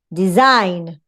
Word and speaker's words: design: Design, why? Because here you have a strong vowel, a long vowel, a diphthong.